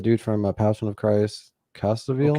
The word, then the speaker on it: Caviezel: The dude from Passion of Christ, Caviezel. Caviezel.